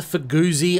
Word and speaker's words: Fugu Z: No, this one is the Fugu Z, unless you pronounce ZZ, as the car owner does, who simply calls it the FuguZ.